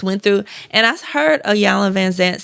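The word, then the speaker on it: Iyanla Vanzant: And I heard a Yala Vanzant say grief is such a powerful teacher. How you say her name? Ayana Vanzant.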